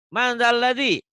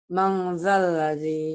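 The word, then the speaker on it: مَنْ ذَا الَّذِي: Mandalladzi. Manzalladhi. Salah baca mandalladzi harusnya. Manzalladhi.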